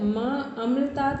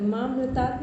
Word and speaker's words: मा अमृतात: तो इसका उच्चारण में पूरा सही कर मामृतात नहीं मा अमृतात बोलेंगे।